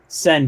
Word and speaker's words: Sehn: find you on Twitter at Sehn, but there's a silent H in there.